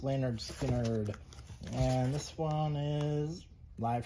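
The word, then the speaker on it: Lynyrd Skynyrd: um 180 g uh second helping by skard pronounce leanard skinnard and this one is live from Jacksonville all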